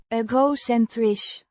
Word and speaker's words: egocentrisch: Pronounced eh-goh-sen-trish, with the emphasis on the first syllable.